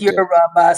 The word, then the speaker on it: Yoruba: So it's Yoruba. So the three, it's the third syllable that people usually don't hear.